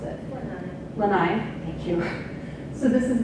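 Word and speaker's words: Lānaʻi: eating birds um this under here is the lynnae Lanai it's Hawaiian I'm sorry I don't know how to pronounce it Lanai thank you so this is the Lanai cat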